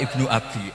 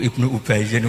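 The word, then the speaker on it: ابن أبي: Dia bacanya qala Ibnu Abi, anake bapak ingsun. Niku ora kula. Iku Ibnu Ubayyin ora ana hubungane mek kowe.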